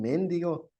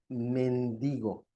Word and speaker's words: mendigo: Y no es un mendigo, es un mendigo. ¿Por qué razón? Porque si fuera mendigo, tendría un acento en la E. Y como no tiene un acento, sería una palabra esdrújula.